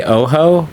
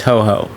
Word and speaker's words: Ho-Oh: go through and catch hoo I believe is how you say the name I always want to say Oho but I believe it is hoo so the opposite of oh ho right h o h but we are traveling